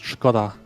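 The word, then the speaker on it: Škoda: By the way, it's pronounced Skoda. Skoda. Skoda. We There's a don't little hat check on top of the S, so it's a sh.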